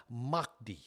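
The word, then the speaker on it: Mahdi: Their Messiah is called the Mi is actually pronounced Makti.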